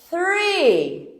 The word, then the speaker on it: three: Vejam bem, quando eu estou falando do número três, esse número três tem th, então é three.